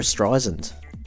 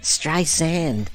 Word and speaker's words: Streisand: It was Barbra Streisand. Or actually, Barbara gets quite cranky about the pronunciation of her surname. It's Streisand. I don't understand what's so complicated. It's Streisand. Sand. It's in the word.